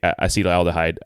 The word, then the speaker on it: acetaldehyde: First, learn how to say it. Learn the right way. I say acetaldehyde.